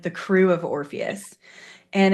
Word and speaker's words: Orpheus: And we are here to talk about her experience at the Orpheus Parade. And I got that pronunciation correct?